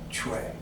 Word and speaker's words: chui: the movement exercises is Chui. Chui. If I were to write this in pinyin, it'd be CHUI. But if I were to write it phonetically, like in English, it'd be CHWAY. Chui.